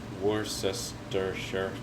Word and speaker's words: Worcestershire: called worcestershire syrup sauce worcestershire sauce it's just called worcester sauce because nobody could say it like it's spelt and a few drops